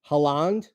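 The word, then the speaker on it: Haaland: comes to betting soccer haland is that the proper pronunciation okayand Holland Holland okay like the country Holland to plus first half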